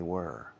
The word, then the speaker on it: were: Yes, they were. Okay? Were. No, where. Where es llevar puesto. Were. Were. Fijaos en la pronunciación. Were. So, una pronunciación oscura, baja.